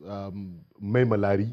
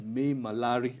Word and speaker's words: Maimalari: Your book, The First Regular Combatant, Brigadier Zakariya Maimalari. Did I pronounce that correctly? Well, yes. Maimalari. Maimalari.